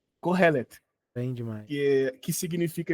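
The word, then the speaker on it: Kohelet: e t não por favor eu quero a pronúncia Corel bem demais que que significa eclesias do Haroldo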